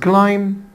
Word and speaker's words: climb: عندنا كلمة climb، وقلنا حبايبي البي هنا silent.